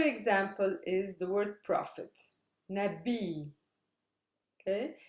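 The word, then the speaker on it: نبي: is super heavy because it's made up of a consonant long vowel consonant so this is where my stress lies listen samir which means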